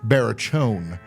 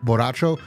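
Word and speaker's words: Borracho: Barachon. It's actually not how it's pronounced. white people. Barone. Barone. You know what Barone means? It's actually pronounced Boracho which means drunk.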